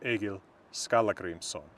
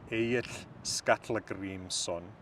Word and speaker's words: Egill Skallagrímsson: In modern Icelandic, he is Egill Skalla-Grímsson. In reconstructed 1200s Old Norse, a language of about when the saga was written, this would have been pronounced Egill Skalla-Grímsson.